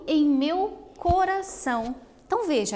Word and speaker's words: corazón: Então veja, aqui a palavra coração, como é o caso da palavra borrou, são palavras que a última sílaba está destacada e elas são pronunciadas de uma maneira mais forte, né?